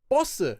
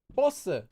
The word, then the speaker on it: 버스: So even though this word is written as 버스, it actually will be pronounced every time, except in the dictionary, every time you'll pronounce it as 버스 with a double consonant.